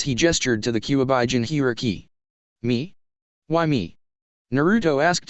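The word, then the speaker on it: Jinchūriki: You said something about Jintoki or something. It's pronounced Jinhiriki, it's a word my wife invented and used to describe those with Biju sealed within them, Hashirama explained.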